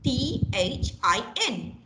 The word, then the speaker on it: thin: very easy thin t-h-i-n some people say she is so thin ah you can't because it is spelled as t h i n and it has that you know that symbol there so sir so thin thin this thin okay you cannot change you cannot change things